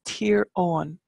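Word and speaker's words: Tír Eoghain: here in Tyrone we have Eugene's land it's tier on so Owen is has been anglicized as Eugene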